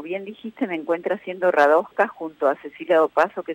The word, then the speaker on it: Radoja: Radoja, lo pronunciaste perfecto.